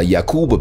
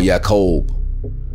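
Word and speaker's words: יעקב: name was jacob which in ancient hebrew is pronounced yakub or yakob the yakuba people are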